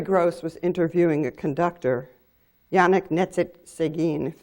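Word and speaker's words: Yannick Nézet-Séguin: was interviewing a conductor Yannick knit sit Seguin that's the way he pronounces his name and not sure I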